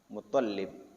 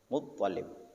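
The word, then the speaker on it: مطلب: al-Muttalibi Abdul Muttalib ya, bukan Muttalib ya, tapi Muttalib, toknya ditasydid ya.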